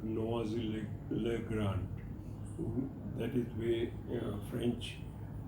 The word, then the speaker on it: Noisy-le-Grand: He guided me how to go to a place called Noisy-le-Grand. That is where French pronunciation goes. Spelling is noisy, Noisy. French people spell it as Noisy. Pronounce it as Noisy, which is about 90 kilometers away from the airport.